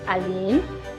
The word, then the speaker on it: Alynn: My name is Alynn Guerra. It's pronounced Alynn.